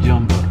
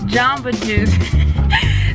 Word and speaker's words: Jamba Juice: it was Jumba job but you always say jump oh it's Jamba Juice so I always say jump I think it says Jamba Juice J am be a jumbo jumbo juice we're